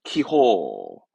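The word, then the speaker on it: 気泡: 예, 발음은 키호.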